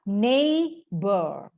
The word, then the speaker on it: neighbor: Terus huruf G, huruf H itu nggak dibaca, enggak. Itu mereka cuma duduk aja, tidak digunakan. Ini yang disebut dengan huruf-huruf silent letters.